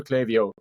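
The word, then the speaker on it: Klaviyo: any Americans listening I know objectively it is pronounced clavio but my accent is just it just it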